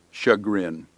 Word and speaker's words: chagrin: and toil that's moil easy to remember because it rhymes chagrin CH AG rin chagrin is a feeling of